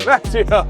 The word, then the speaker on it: Macchio: Macchio.